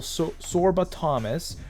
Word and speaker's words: Sorba Thomas: and let me know that we should sell sorba Thomas that is how you say his name um